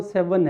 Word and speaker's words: Severn: देखिए इंग्लैंड में सबसे बड़ा रिवर जो है वो सेवन है। सेवन नाम भी लिखा मैंने, SEVERN, आर साइलेंट है, बोला नहीं जाता, सेवन पढ़ेंगे इसको।